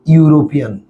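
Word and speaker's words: European: ইউরোপিয়ান শুরুর উচ্চারণ কি ইউ না, তাই শুরুর উচ্চারণ ইউ, সেজন্য এখানে কি হবে এ, ইউরোপিয়ান।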